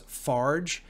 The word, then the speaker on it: FARJ: So, a little background on Especifismo is that it comes from a Brazilian group, which I pronounce FARJ, F-A-R-J.